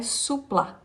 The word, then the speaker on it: sousplat: sobre o o prato quer dizer a a pronúncia é sousplat né então ele pode ser aí feito de